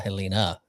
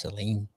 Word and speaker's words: Helene: There's no So it's not Helena. It's Helene.